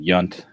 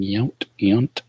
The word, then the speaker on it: Yount: Like I know I always mispronounce Robin Yount. I pronounce it Yount nowadays, but I said Yunt when I was a kid. Didn't know the difference.